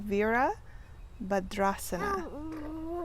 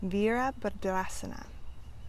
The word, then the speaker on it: Virabhadrasana: So Virabhadrasana. Virabhadrasana.